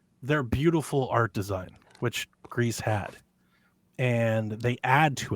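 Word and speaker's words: Gris: made the game uh gree Greece whatever the you pronounce it Becca swears it's gree I thought it was G but the developers themselves they call it Greece and everybody in the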